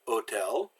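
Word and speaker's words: hôtel: Well, the H is always silent. Hotel, it's like it starts with an O, so hotel.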